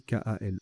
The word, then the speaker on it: kale: variable en genre et kale ça se prononce kale Kalle non masculin un chou